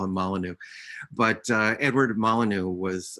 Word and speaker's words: Molyneux: and um edward molyneux i say that he pronounced the name molinx he was the anglo-irish but i always hesitate uh and so i still call him molyneux but uh edward molyneux